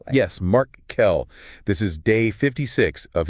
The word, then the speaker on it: Markle: That's pronounced Mark Kell, by the way. Yes, Mark Kell.